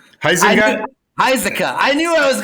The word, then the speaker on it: Huizenga: Isaac.